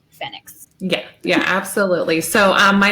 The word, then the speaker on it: FENIX: including the fact that it is pronounced fennecs yeah yeah absolutely so